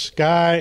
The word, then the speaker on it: SCCY: the subject of this video is my new seccy or as it's pronounced Sky Industries CPX 2 generation 2 9mm pistol uh